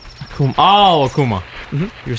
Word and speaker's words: Akuma: Akuma. Akuma. Oh, Akuma. Mm-hmm. You were saying it very weird. I was. Akuma. I was very concerned. Well, that's like phonetically how you would say it in Japanese.